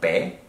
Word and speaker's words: pay: This is not pay, this is pay.